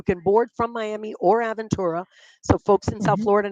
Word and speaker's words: Aventura: in Dade County Marsha I know Joe didn't even know how to pronounce it I don't even know what he said but I'm like it's aventur there's much there's a